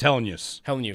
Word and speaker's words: Helenius: syllables. It's been He throwing me. said it. It's Helenius.